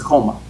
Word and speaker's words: Choma: have to keep remembering the h is silent in your name right everybody wants to say choma but it's coma chemical choir okay all